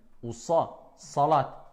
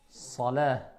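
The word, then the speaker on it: صلاة: Salat. Donc quand on parle de prière, c'est pas salat, c'est salah. D'accord?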